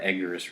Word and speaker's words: Eggers: I think that's what I really love about like Robert Eggers, right? That's how you pronounce it.